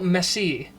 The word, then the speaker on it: Messi: That pronunciation doesn't sound right. Lionel Messi. That sounds right. Because when I say Messi, I just imagine M-E-S-S-Y. I mean, I think that's how you say it, actually.